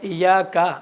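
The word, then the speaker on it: إِيَّاكَ: ایاکا جیسا آغا نے پڑھا، ایاکا ہے، ایاکا نعبد، الف جیسا نکلا، الف نہیں ہے پورا. ایاکا کہتا تو پورا بگڑ جاتا. ایاکا نعبد یہ تلفظ کرتے وقت الف جیسا نظر آتا ہے، اس کا کوئی مسئلہ نہیں ہے.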